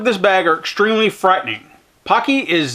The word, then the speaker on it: Paqui: Oh, and it's rhymes with hockey, Paqui. So it's Paqui.